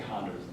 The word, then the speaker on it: Honduras: H is silent. I would say Honduras.